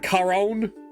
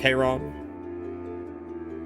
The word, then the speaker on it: Chiron: It's a hard C. Like Charon? Chiron? It's more like Chiron.